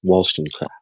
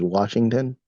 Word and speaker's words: Wollstonecraft: You say your name is Washington? Wollstonecraft. Wollstonecraft. Wollstonecraft. Yeah, Wollstonecraft. Wollstonecraft. Please say it correctly, or I'm not going to help you. Craft. Wall. Wall. Stun. Craft. Wollstonecraft.